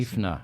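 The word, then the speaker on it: Schäffner: You can, I Americanize it and I call it Schaffner, but Yeah. we can put an umlaut above that A, and that would be then the correct pronunciation for my last name.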